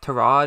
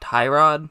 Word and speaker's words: Tyrod: Okay, so two things about Tyrod Taylor's name right off the bat. First of all, I do know that it's now pronounced Tyrod and not Tyrod, so I hope you